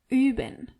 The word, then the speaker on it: üben: Wir üben. Ihr übt. And sie üben. As you can see and hear, you really have to be careful how you pronounce O umlaut. Üben.